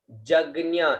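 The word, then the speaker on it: यज्ञ: उसके बाद में आता है देवा, देवा जग्ञ, इसको ज का उच्चारण करेंगे, इसको ज्ञ का, ठीक है, देवा जग्ञ, है ना, देवा जग्ञ, देवा जग्ञ।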